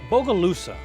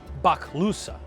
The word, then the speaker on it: Bogalusa: They called it Bogalusa, 2 words, which means dark and smoky water. Bok is the obsolete version of what is mispronounced as boga.